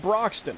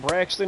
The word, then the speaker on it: Braxton: Not Broxton. Not like Jonathan Broxton. I'm not doing that one. I went Braxton because I don't know no Braxton.